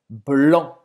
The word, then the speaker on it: blanc: Branco em francês é blanc. Você não vai pronunciar esse C no final.